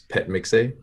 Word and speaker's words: Phetmixay: H is silent in this case, so it's Phetmixay.